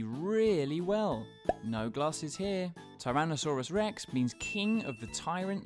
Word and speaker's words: Tyrannosaurus rex: billy alex bye baryonyx biryanix julia resource rex tyrannosaurus rex how do you say that again tai ra na sa rex it's often called t-rex for short though